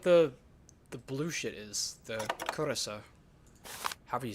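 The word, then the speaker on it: Curaçao: Curacao is a Dutch word pronounced curacao.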